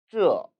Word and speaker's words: 这: 这, 这. 이 발음은 혼설음 쯔의 모음 어를 사성으로 발음한 것입니다.